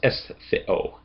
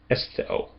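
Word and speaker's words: ἐσθίω: And then omega is not a part of a diphthong, so it can't go with the iota. It's going to stand on its own. So this is estheo, estheo.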